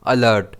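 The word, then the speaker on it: alert: इसे हम प्रोनाउंस करेंगे अलर्ट। इसमें स्ट्रेस एल पर रहेगा।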